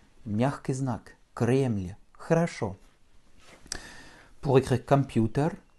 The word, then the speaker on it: Кремль: Кремль.